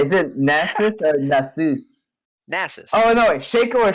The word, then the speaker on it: Nasus: after my pronunciations, man? Okay, is it Nasus or Nasus? Nasus.